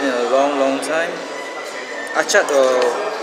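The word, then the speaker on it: Acar: Achat, it's pronounced Achat, A-C-A-T, but if you go into Google Maps, it's Achar, A-C-A-R.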